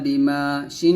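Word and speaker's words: بِمَا شَاءَ: আলিফ জবর মা ইল্লা বিমা শিন আলিফ জবর শা হামজা জবর আ সাথে চার আলিফ টান দিতে হবে আর চার আলিফ টান দিয়ে আমরা হামজাকে সাকিন করব এরকম ইল্লা বিমা শা এরকম ভাবে পড়ব আবার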